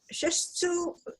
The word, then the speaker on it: shiatsu: My lady does this shiatsu massage for me. I don't know how you pronounce it.